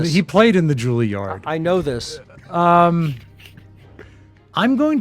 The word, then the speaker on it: Juilliard: Juilliard. Yeah, thank you. Juilliard. At least get that right. Juilliard. Miles Davis. Did he ever study at Juilliard? He I know played in this. he played in the Juilliard.